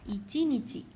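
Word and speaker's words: 一日: When it means one day, it is to be said as ichi nichi. See, ichi and nichi.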